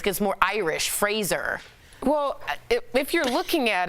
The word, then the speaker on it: Fraser: So it's Brendan Fraser. Yeah. Like Razor. Right, and then I watched the Adam Sandler interview. He kept calling him Fraser.